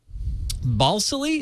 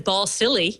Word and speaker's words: Balsillie: But RIM CEO Jim Balsillie, is that how you say his name? Well, it's better than ball silly.